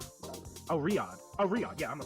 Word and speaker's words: Riyadh: I'm gonna pop it into fucking Google Translate and see if I can get the pronunciation. I think I said it right. Oh, Riyadh.